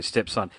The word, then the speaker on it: Stepson: about you guys again is it stepson is that how you pronounce the name of the band stepson step like your stepson kind of yeah gotta okay stepson how long have you